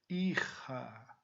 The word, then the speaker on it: hija: Hijo, hija. Olha a pronúncia, J tem som de R.